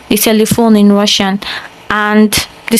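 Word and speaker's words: телефон: But unlike the English, it's pronounced telephone, telephone. And in English, telephone, it sounds exactly the same if I'm not wrong. So yeah, that's another word that sounds exactly like English, telephone.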